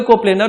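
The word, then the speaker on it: coplanar: देखो कोप्लेनर force of system जानने के लिए जैसे ही आप प्रोनाउंस करोगे कोप्लेनर, तो कोप्लेनर वर्ड के अंदर एक प्लेन का साउंड आता है, प्लेन।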